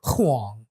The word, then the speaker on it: Huang: Natasha, what's it like being white with the last name Wang? Well, we're not married, Oh. so What we I pronounce it? don't. Huang.